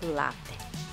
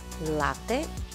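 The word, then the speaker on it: latte: на италиански всъщност е лате. Лате, точно по този начин, обърнете внимание на ударението, тъй като често съм чувала неправилно да се произнася лате.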